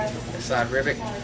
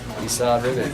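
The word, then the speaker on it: Esad Ribić: Asad Ribic. Esau Ribic, that's Good.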